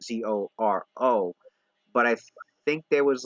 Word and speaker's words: Zoro: people have a really really really hard time pronouncing the L and the L's come out as ours so like it sounds like Zoro my mind sorrow I think it was I